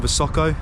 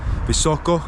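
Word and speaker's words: Visoko: in a previous video when I was in vasoko at the visaco visaco sorry to get the pronunciation correct the Bosnian pyramid and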